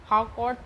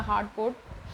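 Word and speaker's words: Harcourt: Sir William Werner हार्डकोर्ट ने क्या कहा, हार्डकोर्ट प्रोनाउंसिएशन है इसका, हार्डकोर्ट, ठीक है।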